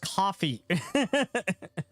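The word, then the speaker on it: Ko-fi: Pronounced coffee. Coffee.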